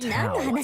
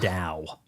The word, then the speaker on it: Dao: It's Dao. It is not pronounced with a T.